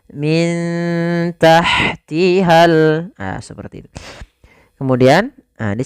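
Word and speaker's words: مِن تَحْتِهَا: Maka cara membacanya disamarkan kepada huruf ta-nya. Min tahtihal.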